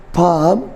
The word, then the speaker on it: palm: This is A, this is M, and L is silent here. For example, calm, C-A-L-M, balm, B-A-L-M, and third one is palm, P-A-L-M. So L is silent again here.